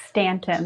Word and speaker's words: Staunton: with ston right yeah did that pronounce that well Stanton that was pretty good that was pretty good